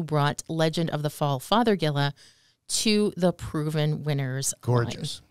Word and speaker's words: Fothergilla: look this up because I love the way you say that father Gilla it almost sounds like Father Gilla and I always said Gia but it's not you're right because it's named I guess after Dr John father Gill who was a Quaker